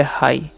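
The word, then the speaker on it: high: ह आई काचन आई और जीच यहां पर साइलेंट होता है इस पढ़ते हाई उसी प्रकार से इसे हम लोग पढ़ते हैं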